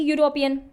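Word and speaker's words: European: लग रही है, ई यूरोपियन। स्पेलिंग पे नहीं जाना, आपको जाना साउंड पे। साउंड कैसे दे रहा है, यूरोपियन। यहाँ पे हिंदी में क्या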